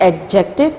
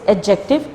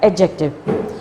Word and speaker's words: adjective: First, it's not adjective, it's adjective. D is silent. In this, it's not adjective. D is silent here. It's called adjective.